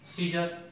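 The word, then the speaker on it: scissors: जेते बेले अपन देखिबे सी पूर्व जदि एस थिबो, सी पूर्व अपन त देखन कि सी पूर्व कोन अछि एस अछि, त एस थिबो ताले सिंति साइंस सी पूर्व रे एस अछि, सीन सी पूर्व रे एस अछि, सीजर सी पूर्व मध्ये एस रहिछि।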